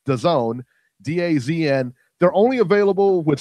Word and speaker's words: DAZN: It's DAZN, right? That's correct. Yep, that's the proper pronunciation.